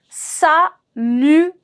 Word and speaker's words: salutation: Salutation. Salutation. Salutation. My S is going to be silent. And when I'm saying salutation, it's a bit of nasal sound. Salutation. On is the sound.